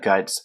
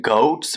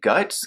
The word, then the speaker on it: Goetz: say her last name like it looks like goats but I also went to this website pronounced names and um they call her like guts guts let's see Goods